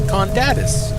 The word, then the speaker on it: Condatus: She called them Condatus, so I was right in my pronunciation.